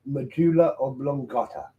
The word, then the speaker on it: medulla oblongata: At what part of the human body would you find the medulla oblongata? I know I pronounced that right, even with my bad talking.